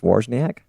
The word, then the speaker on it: Wawrzyniak: So that your last name is pronounced Wawrzyniak? Yes.